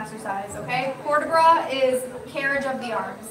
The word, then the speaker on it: port de bras: But you don't pronounce the T.